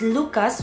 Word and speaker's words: Lucas: share to you is we don't really pronounce the last letters here in France so for example if it's s like Nikolas we say Nicola if it's Lucas we say Luca and